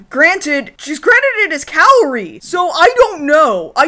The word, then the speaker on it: Kaori: Like, Kaori, the pronunciation of her name in English is all the fuck over the place. But right? most consistently, they seem to have gone with, instead of Kaori, they've gone with Kori.